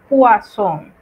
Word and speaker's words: poisson: En cambio, si usted ve dos S seguidas, lo que va a pronunciar es una S como en nuestro español ya conocido. Entonces sería poisson.